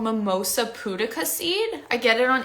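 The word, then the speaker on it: Mimosa pudica: get organic mimosa poodicacy it's like mimosa like what you drink in the morning and pudica is spelled p-u-d-i-c-a mimosa putika seed and it's amazing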